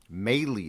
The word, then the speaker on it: Mahle: Mahle is the correct pronunciation.